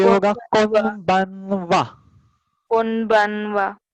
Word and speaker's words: こんばんは: Konbanwa. हाँ, इसका अलग अलग टाइप का प्रोनाउंसिएशन रहता है. फर्स्ट हमने अभी देखा वो कौन बनवा. कभी कभी होता है कौन बावा, कौन बावा, और कभी कभी रहता है कोम बावा.